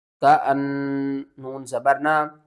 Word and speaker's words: كأن: حمزہ لام زبر اللام کھڑا زبر لا، اللہ، ہا پیش ہو، اللہ، كأنما يصعد في السماء، کاف زبر کا، حمزہ نون زبر ان، کأن، نون زبر نا، کأن، میم الف زبر ما،